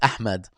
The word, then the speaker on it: Ahmed: no, I mean I'm pronouncing it incorrectly, as in it's Ahmed.